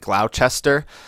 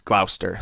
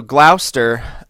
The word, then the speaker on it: Gloucester: know that it sounds like it looks like Gloucester but it's Gloucester that's how you pronounce it um so Glouster uh is one of the Old Guard right